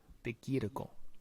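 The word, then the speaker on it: Di Chirico: DiCirico. Chico? Chirico. Kiriko. Kiriko. Kiriko.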